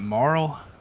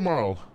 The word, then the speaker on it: Marl: Is that Marl? Uh, yeah. Mr. Marl. M A R L. Like Marlboro.